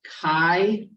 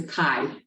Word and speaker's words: chi: for Chi is black it's pronounced Kai like bye I thought it was